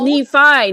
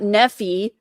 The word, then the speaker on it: Nephi: He's like, also, it's Nephi, not Nephi.